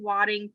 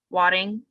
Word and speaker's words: Wadding: She asks, "Why did Wadding promote a day to celebrate St.